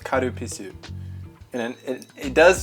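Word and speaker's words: カルピス: in Japanese it's pronounced karupisu and then it does sound like something else but it's spelled but it's like with an L not a w so it's fine oh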